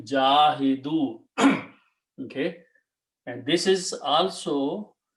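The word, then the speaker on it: جاهدوا: Okay, and in order to pronounce, you call this dhamma and this sukoon. So it became jahidu.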